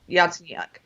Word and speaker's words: Yatsenyuk: Yatsenyuk, that they would take action against the state prosecutor, and they didn't.